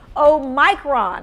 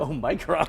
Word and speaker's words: omicron: I even heard a linguistics person say omicron. Omicron.